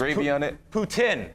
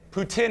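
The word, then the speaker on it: poutine: what is that the french fries the official pronunciation is putin putin is the official pronunciation you can have some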